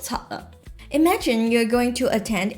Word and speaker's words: 七: Lok chat is one of them. The actual pronunciation of 6 is lok.